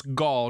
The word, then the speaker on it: Gall: So it's Gall, not Hale. So Gall is how they pronounce the keeper's name.